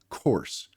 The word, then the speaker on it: course: no, the word is course c or s." So, what part's saying the s e? And what is the o r saying? Should say hour, but it's saying or course.